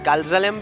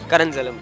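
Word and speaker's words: Caranzalem: The Kalzalam Beach? No, Karanzalam Beach.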